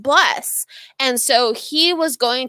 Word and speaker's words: BLE77: He goes by Bless, BLE77, pronounced Bless.